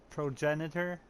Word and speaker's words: progenitor: The virus discovered in that flower was labeled progenitor. One second. Ha! I googled it. Progenitor. Like a janitor. Progenitor. That's how you pronounce it.